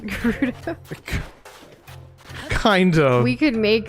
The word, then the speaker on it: Gerudo: Weirdo sounds like it rhymes with Gerudo.